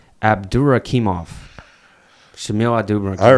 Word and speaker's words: Abdurakhimov: How do you pronounce his name? Abdurakhimov.